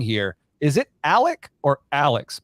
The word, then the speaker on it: Alex: is it Alec or Alex my wife was telling me last night that even though it has an x on it it's pronounced Alec well everything's funky down